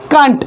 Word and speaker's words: can't: अब तीन सेंटेंस है, उसमें हम लोग कैन नॉट को शॉर्ट में लिखे और इसका उच्चारण प्रोनाउंसिएशन क्या होगा? कंट.